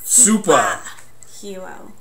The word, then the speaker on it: Supa Hero: You have to say it like Supa Hero. It's because they're in Ipswich, Massachusetts. Which works out today because I'm wearing a Red Sox shirt.